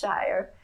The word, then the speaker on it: Scheur: And it says Shire. Even though it's spelled Scheur, it's pronounced Shire. And then it has 2 years on it, 1878 and 1940. Now, those dates refer to the Shire Brothers store that was in it at one time.